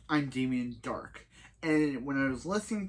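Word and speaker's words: Darhk: was watching this episode, I just thought I heard him say his name was Damien Dart. It's Dark.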